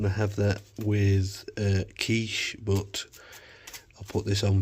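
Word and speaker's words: quiche: keep me going can have a quickie it's pronounced kich the baked potato is going on going to have that with uh kiche but I'll put this on first warm it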